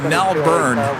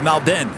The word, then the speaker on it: Melbourne: a while because I used to say it Melbourne then Rudy said no no no no it's Malden so it took me a while certainly not